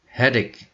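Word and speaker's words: headache: kepala X itu sakit walaupun tulisannya CH itu bukan dibaca Cahya tetapi dibaca bunyinya adalah ke ke bukan George Hai maka karena membacanya adalah hedik head XX1 adalah sakit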